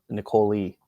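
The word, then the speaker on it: Nicolee: um and uh uh nicole lee uh would probably be the the correct pronunciation probably should have asked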